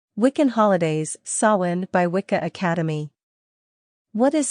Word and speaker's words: Samhain: Samhain, pronounced Samhain, originated with the ancient Celtics and is celebrated on October 31st to November 1st.